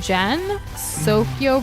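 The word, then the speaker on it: Gensokyo: Gen, like in Gen. Sokyo, pronounced like Tokyo. Sokyo.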